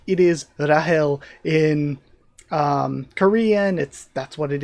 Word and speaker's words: Rachel: Rachel like it is Rahel in Korean. That's what it is in Japanese, and for that translation, the original Hebrew, the original Hebrew name is probably pronounced like Rahel rather than Rachel.